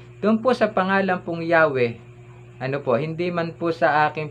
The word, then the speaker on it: Yahweh: Ito po ay aming pinopronounce na Yahweh.